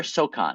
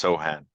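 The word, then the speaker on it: Sochan: Is it Sohan or Sokan? Do you know I how think it's pronounced Sohan. Sohan?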